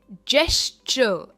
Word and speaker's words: gesture: Okay, next है, इसे कहेंगे जेस्चर। जेस्चर, इसमें भी हम आर प्रोनाउंस नहीं करते।